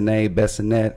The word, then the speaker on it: Bissonnet: into that Houston uh binette if I'm saying it right B Binet hey I probably saying it wrong it's Binet okay have you heard of